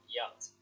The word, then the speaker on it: yacht: So it's a weird word. It's not. It doesn't sound like it's spelled at all. So yacht. Okay. The CH doesn't exist.